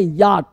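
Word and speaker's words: yacht: अगला वर्ड है याट। देखो ना याट। कुछ लोग इसे याच पढ़ लेते हैं। याच है ना? तो या नहीं होता है। सी ए से च पढ़ लेते हैं। सी ए से च नहीं पढ़ना है।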